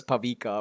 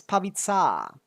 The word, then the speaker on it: Pavita: Like everyone says Pavika or something. It's Pavita.